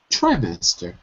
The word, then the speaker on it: trimester: Trimester. Trimester. Right, not tree, but try.